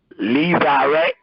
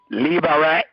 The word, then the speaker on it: levirate: Levirate. Levirate. Levirate. You're saying L-E-V like in Victor? L-E-V, yeah, like Levi, L-E-V-I.